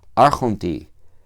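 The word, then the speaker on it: ἄρχοντι: En el dativo singular, arhonta, más la yota que no puede subcribirse debajo de la tao, así que se queda en la misma línea y se pronuncia, ¿vale? En el caso de log del logo, la yota está se escribe pero no se pronuncia. Pero aquí sí.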